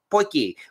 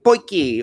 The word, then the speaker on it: potjie: That is a pretty good view here of, again, the way they pronounce it in South Africa, as I found out, they call it potjie or maybe potjie.